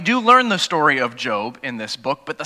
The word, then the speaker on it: Job: of all the the main character's name is job looks like job it's pronounced job I'm sure there's many people who